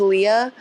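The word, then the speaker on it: Leigh: publicly said I think her name is Leah which is kind of ironic but it's spelled l e i g h um and so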